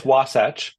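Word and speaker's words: Wasatch: your your company is if I'm going to pronounce this correctly wasach biolabs yeah it's wasach wasach okay it's a Native American word uh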